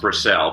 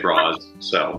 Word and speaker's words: Brassell: No, I never took any grief over that as a child, but it's pronounced Brassell, but nobody remembers that. So I have to say Bras Cell.